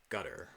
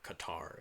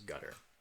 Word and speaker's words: Qatar: uh actually I'm sorry that would be uh gutter or Qatar as some people say but I understand the native pronunciation is gutter jouti is down there